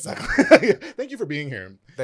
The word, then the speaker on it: Sutcliffe: Sutcliffe. It's Sutcliffe.